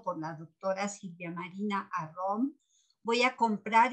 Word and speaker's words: Arrom: Y sobre esto de las fuentes, Ana Lu dice, felicidades a la doctora Arrón, perdón. Ella me hizo notar que el apellido se pronuncia Arrón, por eso lo estoy pronunciando así, porque yo era de las que totalmente equivocada.